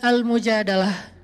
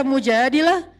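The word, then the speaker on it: المجادلة: Jadi tergantung kita bacanya dilah atau dalah. Kalau kita baca Mujadilah, berarti perempuan yang lagi curhat. Kalau kita baca Al-Mujadalah, berarti curhat itu sendiri.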